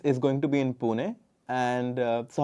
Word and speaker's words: Pune: Because you grew up in the city of Pune, if I pronounce it correctly. Exactly. Pune.